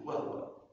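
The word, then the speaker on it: وَهُوَ: Waktu baca wahua banyak yang salah baca begitu. Wahua. Wahua. Wahua. Tidak sempurna. Ha bidamah wahu wahua sempurna damah wahua jangan wahua wahua ha wahua ala kulliaiin qadir.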